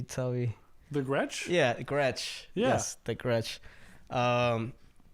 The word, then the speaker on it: Gretsch: I mean, you guys can't see it, but it's I never know how to pronounce it. Can you tell me? The Gretsch? Yeah, Gretsch.